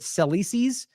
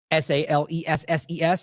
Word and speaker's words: Salesses: Sleight, how do you say it? Sleises? It's an interesting name. Salesses.